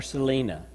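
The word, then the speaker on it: Celina: And I know you guys had a mission team here from, do they pronounce it Salina or Selena? Selena. They pronounce it properly.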